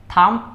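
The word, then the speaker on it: thumb: অর্থ হচ্ছে হাতের আঙ্গুল থাম্প অর্থ হচ্ছে বৃদ্ধাঙ্গুল এখানে একটু খেয়াল রাখতে হবে এটার উচ্চারণে থাম হবে এখানে বি এর উচ্চারণ সাইলেন্ট থাকবে তার পরবর্তীতে এখানে আচ্ছা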